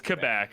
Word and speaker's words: Quebec: yeah it's it's quebec if you said it like as a french person would say it it's not quebec sounds like you're four years old yeah no it's definitely quebec and i'm just a